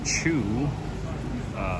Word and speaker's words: Chew: And as a or a Chew, which is how they say it here locally, it makes me very proud.